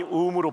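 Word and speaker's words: womb: 오 발음이 우음으로 발음되죠. 그리고 무덤이 역시 오 발음인데 우 발음이 되죠.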